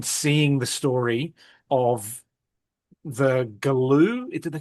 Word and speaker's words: Galoo: mind and then seeing the story of the Galoo.